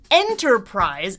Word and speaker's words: enterprise: And the word enterprise is three syllables, but it has primary and secondary stress to deal with.